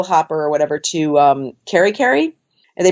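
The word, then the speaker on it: Kerikeri: took a puddle of hopper or whatever to carry carry and they pronounce it kitty-kitty which is in Northland and I met a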